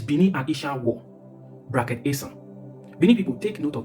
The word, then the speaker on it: Esan: The inability for the British to pronounce Esan, they call it Ishan, where it's okay in this context.